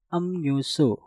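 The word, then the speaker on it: 음료수: Nah, maka yang harus kalian lakukan adalah merubah suara real menjadi suara nien. Maka cara pengucapannya menjadi amnyusu. Amnyusu. Amnyusu.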